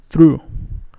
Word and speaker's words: through: The last word, the GH at the end, are silent, so we say through.